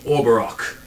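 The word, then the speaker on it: Or'barokh: I am Orberok, and I'll be commanding your unit. Greetings. If you're looking to spell that, it is O-R apostrophe B-A-R-O-K-H.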